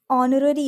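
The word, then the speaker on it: honorary: Alright, वो एन लगेगा क्योंकि इसमें एच जो है साइलेंट है। ऑनररी इसको हम पढ़ेंगे, फाइन। तो अगर इसको जैसे मैंने पहले हॉनररी पढ़ के बताया, ठीक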